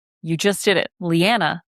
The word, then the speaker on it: Lianna: Lianna, like banana, unless you're British or Australian, in which case all bets are off.